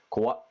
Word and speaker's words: Kawaii: sound and make sure you don't say e don't extend e sound for scary for Kauai Kawaii Kauai foreign you really gotta